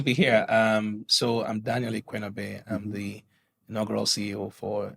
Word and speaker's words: Ikuenobe: Yeah, and then how do you pronounce Daniel Ikuenobe? How do I pronounce Close that? enough. Just assume the U for a W and then you get it right.